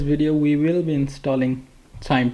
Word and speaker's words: QIIME: It's spelled as q i m e but the pronunciation is chime ch h y m e or cs m e.